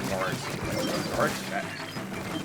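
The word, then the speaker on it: Garet: Or Gart? I always pronounce his name as Grant, I know it's not Grant. It's supposed to be Gart or something like that.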